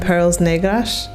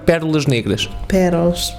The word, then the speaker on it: Pérolas Negras: of Water Fountain, and it was him and Perles Negras. How do you say that? Perlas Negras, yeah. Perlas Negras. Sorry, no, Portuguese is difficult, yeah. Pérolas negras.